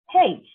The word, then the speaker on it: hej: HEJ, এটা তো hedge হওয়া উচিত, এটা হেই, because HE, হে, আই, হেই। I means E, জে, জের উচ্চারণ কিন্তু ই, ভুলে গেলে চলবে না, একদম মাথায় রাখবেন খুব ইজিলি।